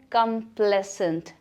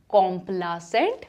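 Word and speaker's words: complacent: So next word है कंप्लेसेंट, written as कॉम्प्लासेंट but pronounced as कंप्लेसेंट।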